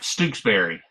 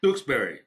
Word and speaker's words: Stooksbury: You had it right, Stooksbury. Stooksbury.